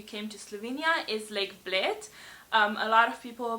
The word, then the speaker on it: Bled: visit if you came to Slovenia is Lake Bled. A lot of people pronounce it Bled, or I don't know what else I've heard, but yeah, Bled is obviously pronounced Bled.